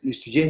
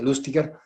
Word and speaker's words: Lustiger: En realidad el apellido es alemán, pero los franceses lo pronuncian los franceses. Listugé en alemán sería Lustiger. Era judío.